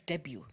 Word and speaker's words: debut: come and say no it's not debut it's debut they even say debut so that you understand